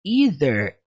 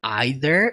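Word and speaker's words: either: aprende daquilo portanto esse ider ele foi citado aqui porque eu vou apresentar duas opções nessa frase ele significa a mesma coisa que or ou seja you can ider na pronúncia dele aider ou seja e o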